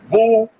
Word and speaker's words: Boule: to go to the Boule picnic known as boay pronounced Bole the group is here see Bole ble b